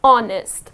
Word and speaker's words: honest: You need not pronounce this H here. The correct pronunciation of this word is honest.